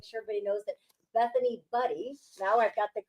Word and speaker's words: Budde: We don't want to make sure everybody knows that Bethany Budde, now I've got the correct pronunciation, the owner of SqWires, which is an incredible restaurant, is with us, and picnic the basket with her.